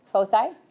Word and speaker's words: foci: Is that the way you pronounce it? Foci?